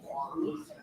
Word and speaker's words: Huang: So W-O-N-G in Mandarin is Huang.